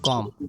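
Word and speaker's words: comb: तो अगर आप देख लें हमारे पास एक टर्म है कॉम। ठीक है? तो एम के बाद बी क्या होता है? साइलेंट होता है।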